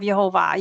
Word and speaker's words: Yehovah: there on the right his name is spelled yod with a Y sound he with an H sound VAV with the V sound and you can compare